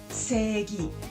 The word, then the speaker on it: Seigi: Entonces, primero vamos a ver qué es Seigi. Seigi, aunque se escribe C-I-G, la pronunciación es Seigi. La I del medio sirve para alargar el sonido E se.